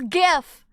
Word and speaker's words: GIF: People can be wrong who name It's It's not giraffic. It's graphic. So, it's GIF name.